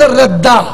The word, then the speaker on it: رضا: رضا نہیں کہنا, دعا پر احمد ردا. کیا کہنا ہے بھائی؟ پھر بولو بھائی تلفظ. زبان میری ہے بات ان کی, بھائی میں اپنے تو نہیں کہہ رہا. وہ کہتے ہیں دعا دعا, میں کہتا ہوں احمد ردا احمد ردا.